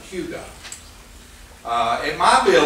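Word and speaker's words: hygge: the Danish word h y y g e pronounced Hugo uh it might be a little interesting for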